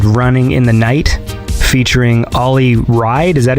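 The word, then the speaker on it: Ollie Wride: Yeah, it's Ollie Ride.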